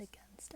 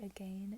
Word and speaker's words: again: Actually, again and against. I used to say again and against, and then people would